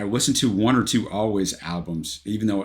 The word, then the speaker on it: Alvvays: And I listen to one or two always albums. Even though it's albbays, guys, you pronounce it always.